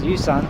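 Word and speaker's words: 雨伞: Umbrella in Chinese is yusan, and that san is, once again, sounds like the word divorce.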